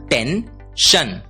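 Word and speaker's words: tension: की आवाज होती है टेन इसलिए टी ई एन एस आई ओ एन का उच्चारण होगा टेंशन टेंशन टेंशन का मतलब होता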